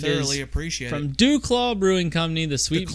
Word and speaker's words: Duclaw: Duclaw Brewing Company, the Sweet Duclaw. Baby Jesus. Just say it with me. Duclaw. Yeah, Duclaw. Not do. Duclaw. Duclaw. Take the U out. Put a flat A in it.